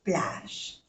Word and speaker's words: plage: No se pronuncia la E, plage.